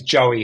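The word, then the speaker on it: Joie: Cra Crazy is this the guy's name is Joey Henny now there's nothing crazy about that you go that makes perfect sense but but Don his name is spelled j o i e j o i e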